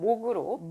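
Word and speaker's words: 睦: 그러면 그 옆에 부분에 현재는 이게 발음이 육입니다. 네. 우리가 육지할 때 그 언덕부 옆에 있는 맞아요. 그 부분이 이제 발음 성분이어서 육으로 발음되는 네. 그것인데요. 여기서는 목으로 발음하셔야 됩니다.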